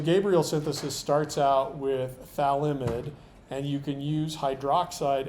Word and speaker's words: phthalimide: This amine-based compound has a strange name that involves a pH and a TH, and you just basically pronounce that as F and a TH. So mostly people drop the F and just call that phthalimide.